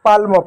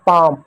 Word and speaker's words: palm: PALM, तो बच्चे इसको पाल्म पढ़ते हैं, ऐसा पाल्म। तो पाल्म नहीं है बच्चों। क्यों पाल्म नहीं है, क्योंकि आप पाल्म पढ़ो तो एल को ल पढ़ो, जबकि एल साइलेंट है।